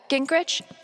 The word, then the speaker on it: Gingrich: Steph, Gingrich?